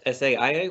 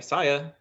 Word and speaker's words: Saia: I've always called this SAIA when I see it on the highway, but when the man came to deliver it, he said, hey, Saya. So I said, oh, that's how you pronounce it.